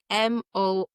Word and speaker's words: Moreau: the French way, and the French way is Moreau. That's not how it's spelled. If anything, it's spelled the Scottish way, which is Moroow.